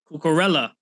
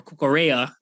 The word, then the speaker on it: Cucurella: Cucurella or Cucurella, that's how you're probably supposed to pronounce it.